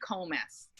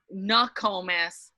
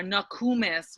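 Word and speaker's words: Nookomis: calls me comas um really nakomis or nakumus would be a more appropriate pronunciation so in in lay english we sometimes throw an a hard o into the word yeah when it really in our language we don't have that hard o we have an oo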